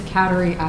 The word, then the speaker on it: Kateri: pronouncing your name right kateri quinzee damn close it's it's catery i'm wondering where the